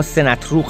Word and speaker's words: سناتروک: مثلا نگاهی کنیم به این مجسمه از فرمانروای هترا، سناتروک دوم که آن را سناتروک هم تلفظ کردند.